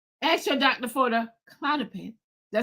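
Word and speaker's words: Klonopin: Ask your doctor for the Clonopin.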